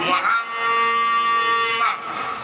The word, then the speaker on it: মুহাম্মদ: আল্লাহ বলছেন আমার নবীর নাম উচ্চারণ করবা, মিমের উপরে মিম উঠাইয়া দিয়া ওয়াজিব করনা, জাতারা ধরো ওয়াজিব মুহাম্মদ, এইভাবে জাতারা ধরে উচ্চারণ করতে হবে।